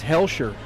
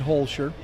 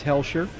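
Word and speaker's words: Hoelscher: Um, it's Hellshshire. H O E L S H. I said Holshire. Uh, I was incorrect. It's Hellshshire.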